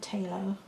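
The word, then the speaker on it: Phthalo: I like Talo colours, that's spelt with a P, but my teacher always pronounced it Talo, and so that's how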